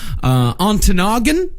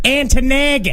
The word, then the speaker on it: Ontonagon: Yeah, I think it's pronounced Antonagon. That sounds right.